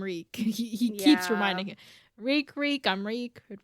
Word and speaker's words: Reek: Reek, I'm Reek. It rhymes with squeak. It rhymes with weak. It rhymes with all the worst things in the world.